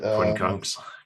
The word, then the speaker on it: quincunx: I was actually we're talking about the quincot or quincottle, I don't know how to pronounce it. Quincunx, Quincunx. Quinconx.